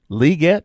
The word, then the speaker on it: Legette: Legette, that's how he pronounces it now.